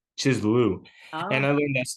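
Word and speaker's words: Kislev: I don't know, but that's the month that he talks about this stuff taking place in, or Chislu, not Chislev, Chislu.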